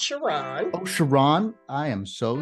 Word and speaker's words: Sherron: FSR Sark fighter podcast joining me now is Sharon um is pronounced shiron oh shiron I am so sorry it's okay